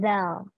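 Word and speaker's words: ذ: Terus huruf kedua itu ada zal. Seperti yang aku bilang tadi, lidahnya agak lidahnya itu berada di antara dua gigi depan. Zal, agak digigit gitu.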